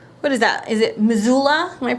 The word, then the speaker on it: Missoula: Is it Missoula? Am I pronouncing that right? Missoula, Montana.